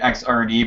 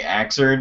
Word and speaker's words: Xrd: a lot of people that pronounce it uh pronounced it xrd but it's actually axered and obviously sign uh and i don't know